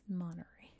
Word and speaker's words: Monterey: It's like, yes, that's how we pronounce it. It's Monterey.